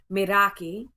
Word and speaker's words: Meraki: Here I am a maraki revolution is a big part of that and maraki can be pronounced actually it's a Greek word so um I have been told it sounds more like madaki and it means to